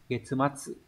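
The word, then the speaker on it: 月末: À, chữ nguyệt có cách đọc là gatsu và getsu, nhưng mà trong trường hợp ghép âm ấy nó đọc là getsu.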